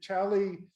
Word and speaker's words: Xali: again i invite you tally is how you say it but it's spelled x-a-l-i and i believe joey